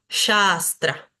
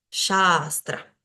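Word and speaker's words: śāstra: A larga además, y la segunda es una S como nuestra S común, la S de si, sapo, sol. Shastra, Shastra.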